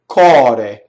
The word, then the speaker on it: core: Okay, so next word, cɔre. So here's an open O.